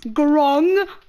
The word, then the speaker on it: Gronkus: It's pronounced Gronkus. Say it with me. Gronkus.